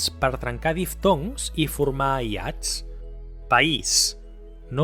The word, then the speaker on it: País: "País": we do not pronounce "pais", as if it had a diphthong, but we say "pa-ís", marking two syllables.